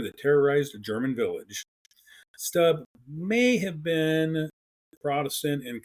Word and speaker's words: Stubbe: It would be Peter Stub.